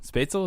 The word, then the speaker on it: Spatzel: Spatzel, is that right? That's right. You actually said it right. It's rare. Spatzel. Like a pretzel.